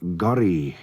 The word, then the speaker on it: Gorry: because Ori is completely wrong. The name was Gorry in Manx, and it's the name of Godred Crovan, or King Gorry.